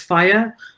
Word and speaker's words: FHIR: web based applications is standard call fhir pronounced as fire so so think of